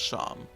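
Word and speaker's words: Seam: and meet a strange shopkeep proun sham pronounced sham they welcome you into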